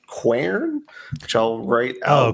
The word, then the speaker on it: Quern: One game that I just started today is a game called Quern, which I'll write out.